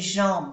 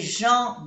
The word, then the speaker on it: gens: Des gens bien, des filles bien. Como nos damos cuenta que la S de plural no se pronuncia, N, en, gens, des gens bien, des filles bien.